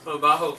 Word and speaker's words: baho: is a bit negative baho ( can be a description of a thing too) but we do not pronounce it the way you pronounce jota (j) in Spanish it is like an aspirated h we have the fourth